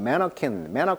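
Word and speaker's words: mannequin: 같다라고 비했다는 거죠 자 마네킹 발음은 매너캔 이렇게 발음을 하네요 항상 이름 전에요 매너콘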